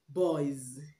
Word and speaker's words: boys: Boys. Boys. Not boys. Boys. The word boy ends in oi. Oi is a diphthong. Oi, which is verb. So that's why the S we pronounce z.